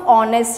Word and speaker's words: honest: But the sound of honest is O because H is silent.